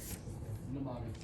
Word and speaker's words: mnemonic: Mnemonic. Mnemonics. How do you say it? Mnemonic. Mnemonic. It's MN.